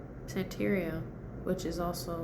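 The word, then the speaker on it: Santería: Santeria, which is also like mixed with the Yoruba culture as well as Roman Catholicism call it bola.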